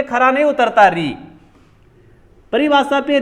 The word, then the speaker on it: ऋ: जिनको अपन बोलेंगे ऋ जब ऋ का अपन उच्चारण करते हैं तो वहां थोड़ा सा क्या हो जाता है वह खंडित हो जाती है ऋ उच्चारण तो हुआ ऋ से और लास्ट में क्या निकला ई री यानी कि री रे री से ई लास्ट में क्या आया ई इसलिए इसको मौखिक रूप